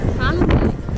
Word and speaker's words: Kralendijk: How would you pronounce the name of this city? Kralendijk. Kralendijk? Yeah, Kralendijk. Grazie. Grazie. That sounds like the right answer.